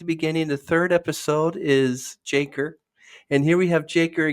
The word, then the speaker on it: JACRE: from his initials J KR his moniker jaker pronounced jaker represents both of fresh start and a tribute